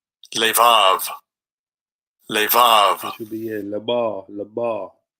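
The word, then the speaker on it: לבב: This is like a bit of pronunciation. Labar. Strong's H3824. Levav. Levav. It should be labar, labar.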